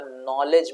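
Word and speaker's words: knowledge: में टी नहीं आता नॉलेज में के नहीं बोला जाता है साइकोलॉजी और में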